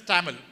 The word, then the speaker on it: Tamil: Tamil, its pronunciation is Tamil. In English, it is written as Tamil. Okay? Tamil is pronounced as Tamil.